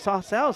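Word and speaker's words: Sarcelles: 117 in favour of Sarcells. So the teams from Sarcell are being told don't pronounce the S, and Sarcell have to get used to it.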